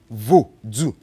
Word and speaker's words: Voodoo: Voodoo is 2 syllables. Voodoo. The VO is the vo. Do is the DOU. Voodoo.